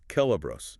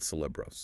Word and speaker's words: Celebros: Pro tip for anyone navigating the linguistic architecture of the Elder Days, the letter C always makes a hard K sound, always. So, it is Celebros, not Cilebros.